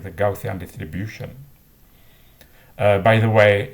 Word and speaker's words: Gaussian: so i read it gaussian in english speaking countries it's often pronounced gaussian but i believe it's not appropriate we should pronounce it as it is in the original uh country for example einstein was